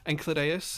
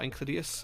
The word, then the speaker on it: Enceladus: Enceladus, or Enceladus, however you want to pronounce it, is also an option.